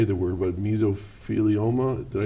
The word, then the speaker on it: mesothelioma: want I can never say that we're but mesothelioma did I say it right yes you did